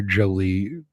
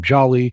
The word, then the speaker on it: Joly: Um, this guy he's very sensitive about the pronunciation of his name. That is something a friend of mine found out the fun way because he was watching somebody else find out the hard way, where Jolie they mispronounced his name, called him Jolly, and he corrected them very vehemently.